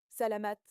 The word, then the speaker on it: salamat: Mot 9, salamat, merci, en tagalog, 2 syllabes, prononcées avec attention, pas thank you automatique, pas un merci poli de surface.